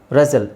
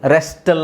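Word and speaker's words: wrestle: okay ಆಮೇಲೆ ಇಲ್ಲಿ ನೋಡಿ ರೆಸೆಲ್ ರೆಸಲ್ ರೆಸ್ಟಲ್ ಅಂತ ಹೇಳಲ್ಲ ರೆಸಲ್ ವಿಸಿಲ್ ವಿಸಿಲ್ ಹೊಡಿತೀವಲ್ಲ ವಿಸಿಲ್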